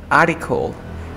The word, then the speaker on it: article: aprendas es de que una T después de la R y luego con un sonido de vocal, quiero que ya no pronuncies esa T. Por ejemplo, en la palabra article, tenemos una R, una T y un sonido de vocal. Por ende, no pronuncies la T.